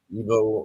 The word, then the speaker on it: Iwo: W pronounced as a V in their language.